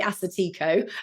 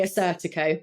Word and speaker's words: Assyrtiko: maybe have heard of Assyrtiko. See, you've pronounced it so beautifully. I actually used to say it wrong. I used to say Assyrtiko and then got told off. And now I say Assyrtiko.